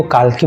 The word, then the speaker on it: Kalki: जब टाइटल का स्पेलिंग में KALKI है, तो आप उसको कल्कि पढ़ोगे या काल्की पढ़ोगे?